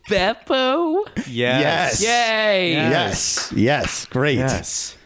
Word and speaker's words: Beppo: Now I know it's Beppo.